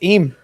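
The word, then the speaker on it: Eyam: It's Eam.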